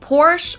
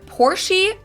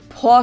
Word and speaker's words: Porsche: heard Americans pronounce it Porsche or pore in German we say por so there's like this short a sound in the end por it was founded